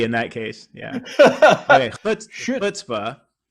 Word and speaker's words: Chutzpah: Chutzpah. Chutzpah. Yeah, that's okay. You're learning Hebrew. This is my job to teach you. But yeah, so the ch, that guttural sound in the throat.